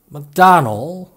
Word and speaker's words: McDonnell: McDonnell Douglas, McKinsey and Company, Steve McQueen, Joseph McCarthy, Paul McCartney, McDonnell, 지금은 보잉사에 인수된 미국 항공기 제조업체 맥도널 더글라스의 그 맥도널입니다. 실제 발음은 McDonnell이라고 합니다. 끝에 D만 빼면 이름 McDonald와 발음이 똑같습니다.